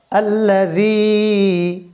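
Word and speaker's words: الذي: খন্নাস ওয়াসসিল এরপরে আল্লাজি আল্লাজি জালটা নরম উচ্চারণ হবে এবং একালিফ টান হবে আল্লাজি আল্লাজি আচ্ছা এরপরে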